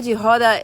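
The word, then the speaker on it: roda: The samba that is done in baya samba jihod which is spelled r o d a but you pronounce it with an h. Ha. So samba jihada is a it's closer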